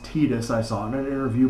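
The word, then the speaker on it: Tidus: game titus the main character and yes it's pronounced titus i saw in an interview before the game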